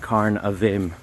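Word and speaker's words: Carn a' Mhaim: think or the other way around but it's pronounced karn of them um so it's just the one but what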